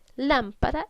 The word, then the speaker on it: lámpara: Lámpara es una palabra esdrújula que lleva tilde porque todas las palabras esdrújulas llevan tilde.